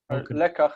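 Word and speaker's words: לֶקַח: lekach. Lekach means a lesson, where the first syllable has the but the second is under the influence of the guttural, lekach.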